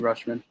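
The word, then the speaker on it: Rutschman: the catcher that came up how do you pronounce his name wiz rushman anthony rushman there you go i mean and the mariners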